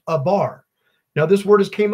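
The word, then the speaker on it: עבר: 56 74 in your Strong's Concordance and it's pronounced a bar now this word has came up a couple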